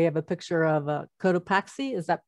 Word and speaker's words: Cotopaxi: referenced before we have a picture of uh cotopaxi is that pronounced correctly right no actually the one i